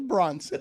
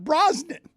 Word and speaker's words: Bronson: the action star Charles Bronson okay that would make sense too but that that's that's wheelous but Bronson not broen well I I thought